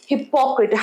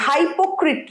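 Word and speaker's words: hypocrite: উচ্চারণ কি? হিপক্ট হাইপোক্ট নয়। এই আছে হিপক্ট বল আমার সাথে হিপক্ট হিপ নয়। হিপক্ট নয়। হিপক্ট হিপক্ট গ্রেট।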